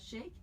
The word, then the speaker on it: Sheikh: And so help me again, because I don't want to mispronounce. So it's Sheikh? Sheikh, yeah.